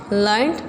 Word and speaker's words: learned: Learned, well educated, usually written as learned and pronounced with two syllables.